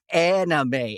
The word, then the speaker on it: anime: It's anime, anime.